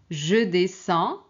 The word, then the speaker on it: descends: 3 2 1 Très bien. Je descends. Je descends. Donc il y a pas de D ni S à prononcer.